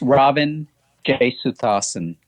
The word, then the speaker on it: Ravin Jesuthasan: How do you pronounce your first name? Oh, it's Ravin Jesuthasan.